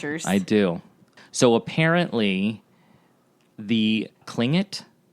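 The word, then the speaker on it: Tlingit: do so apparently the klling it even though it's spelled with a T it's pronounced with a K I guess fascinating um klling it is a a certain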